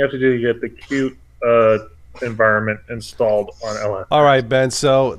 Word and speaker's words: Qt: I think it's actually is it formally pronounced cute that's what I've heard yeah this is everything you have to do get the cute environment installed alright Ben